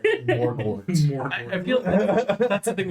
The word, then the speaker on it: Morgort: It's a whole mouth word. It's Morgort.